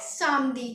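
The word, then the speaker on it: samedi: Saturday तो Saturday को हमें क्या बोलना है सादी क्या बोलना है सादी लेी माक दी मदी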